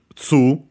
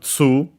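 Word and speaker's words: ツー: The two, most likely in this case, is pronounced like in English, tsu, well, of course, with the difference that they use that is one of the cases where they simply use the tsu to make it to change the to add they added the vowel as usual, yeah, by adding nowadays it's pronounced tsu with ts instead of simple t.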